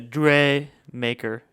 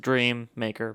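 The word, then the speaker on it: DreaMaker: So they're Chase, the Dre Maker. I said Dream Maker, but it's spelled weird.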